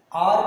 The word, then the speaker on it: hour: आर पढ़ेंगे, है ना, आर, आवर पढ़ते होंगे आप, आर पढ़ेंगे, H साइलेंट लेटर है, H को नहीं पढ़ा जा रहा है ना, इसको आर